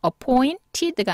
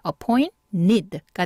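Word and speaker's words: appointed: 발음이 돼서 붙어요 다시요 네 그런데 여기도 t가 n이랑 같이 있죠 깨갱하고 소리가 쓱 사라져야 돼요 그래서 appointeed가 아니라 어포인 need가 됩니다 그래서이 d가 끝에 이렇게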